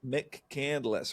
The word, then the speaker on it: McCandless: She, you know, it's like Northcel's when you when you mispronounce those names from out of town. Oh, yeah. That is Mick Candless, right?